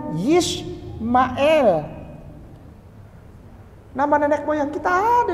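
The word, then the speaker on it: ישמעאל: Ini bacanya Yishmael.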